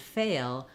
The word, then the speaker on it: fail: so I would say to get the difference between fell and fail practice just saying Fay the first part of fail and then notice how as I say fail there's even more gliding because I'm going to kind of a little dark schwa before my L here fail so I've